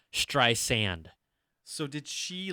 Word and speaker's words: Streisand: that Siri kept on pronouncing the middle of her name with a Z. So it would say Streisand instead of Streisand.